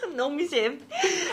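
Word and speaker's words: Nongshim: Her pronunciation is perfect. Nong Shim.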